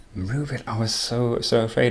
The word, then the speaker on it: mroobit: And you did pronounce the username correctly. It is. Move it.